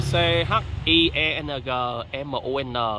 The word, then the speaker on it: Chiang Man: Đọc là Chiang Mun. Tuy nhiên có trên mạng họ ghi là Wat Chien Man đó nha, MAN.